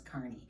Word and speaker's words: Kearney: kearney or kearney but i think that the appropriate pronunciation is carney and i just have